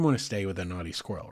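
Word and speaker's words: Knotty Squirrel: to stay with a naughty squirrel right of course it's spelled k n o TTY y but it's the naughty squirrel I wish we could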